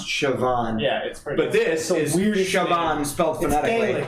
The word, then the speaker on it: Siobhan: what they told me the Irish name is pronounced Siobhan yeah you're right yeah